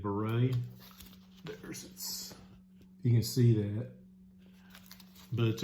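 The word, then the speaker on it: Bourrée: But Beret, I believe it's how it's said, Beret.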